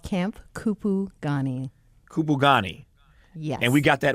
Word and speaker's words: Kupugani: I have the name in front of me, but I'm afraid to even try to pronounce it. It is called Camp Kupugani. Kupugani.